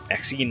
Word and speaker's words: Maxine: Maxine rhymes with queen, after all, and dearest, that is hardly a coincidence.